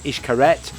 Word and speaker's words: Xcaret: a candlelit dinner now ishkaret is spelt x-c-a-r-e-t but pronounced ishkaret and it's the original